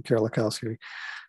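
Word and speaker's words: Kerlikowske: And this was a person, Gil Kerlikowski, that's how you pronounce his name, Kerlikowski, who was appointed by, in fact, Obama.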